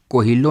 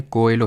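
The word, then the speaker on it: Coelho: government जल्दी से बताइए कोहिलो नहीं है कोएलो है ठीक है कोएलो होता है ये खैर स्पेलिंग से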